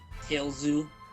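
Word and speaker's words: Tails: Tailzoo. Yeah, Tailzoo. That's how you say it in Japanese.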